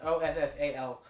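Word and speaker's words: offal: awful organ meats or not not awful I'll follow I on pronounce it's offa L but if you eat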